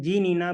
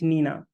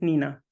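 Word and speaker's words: GNINA: see it is written G Nina but the pronunciation of the tool is Nina so we do not pronounce it g Nina it is just Nina so Nina is derived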